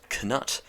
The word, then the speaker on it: Cnut: the series english sovereigns i have to be very careful when i pronounce the word cannut because when you spell out c-n-u-t it looks very similar to the swear word the music